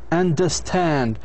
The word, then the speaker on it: understand: final syllable is strong, then if the final syllable is strong, it will be stressed. If the final syllable is strong, شعن strong, it doesn't have أشوى. هذا معناتها. إذن هي بتكون stressed. Entertain. Understand. لاحظوا كيف understand.